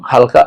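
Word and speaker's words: حاء: এই জিম জিম উচ্চারণ করতে হলে আপনাকে জিহ্বার মধ্যখান তালুর সঙ্গে লাগাতে হবে, অর্থাৎ জিহ্বার মাঝখানটা আপনাকে তালুর সাথে লাগাতে হবে, তাহলে জিম উচ্চারণ হবে।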